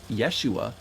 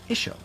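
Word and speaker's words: ܝܫܘܥ: And when we hear them pronounce the name of Jesus, it's not pronounced Yeshua, but it's pronounced Isho.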